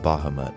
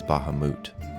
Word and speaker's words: Bahamut: of alignment I will start with Bahamut or less commonly pronounced as Baha moot the Platinum Dragon god